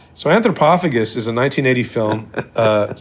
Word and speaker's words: Antropophagus: the docket which is anthropophagus that's how you pronounce it anthropophagus and um it's 1980e but well it doesn't